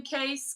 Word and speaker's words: Ka$e: his name it's case is that how you pronounce your name case because it it looks like that's it yes I that's it case yeah all right and